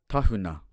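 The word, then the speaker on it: Tāhuna: Tahuna, tahuna.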